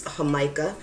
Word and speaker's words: jamaica: which you have and this is hamaha. It's a I think it's made from a flour and it's really really good. It's a it's actually spelled like Jamaica.